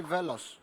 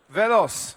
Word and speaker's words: Velos: that correctly yeah uh no it's actually veloc velos yeah you should have an S at the end then you know it's it's from a Greek word uh velos which means Arrow uh